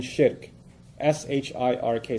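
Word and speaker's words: shirk: perspective nothing worse than Shi RK sounds like Shrek so that's easy to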